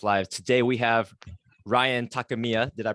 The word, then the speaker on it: Takemiya: Today we have Ryan Takemiya. Did I pronounce that last one right?